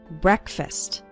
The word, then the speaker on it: breakfast: while eating breakfast and the first syllable of breakfast is pronounced with an e sound it's not like the word break it's like bre breakfast or listen to an